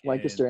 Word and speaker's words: Lancaster: And yeah, guys, if you are in, is it Lancaster, PA, right? Yep, like Lancaster. And you said it right, dude.